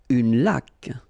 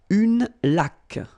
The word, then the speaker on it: laque: Une laque. Remember the rule when you get this QU, well, U is not pronounced, so you get k like that. Une laque.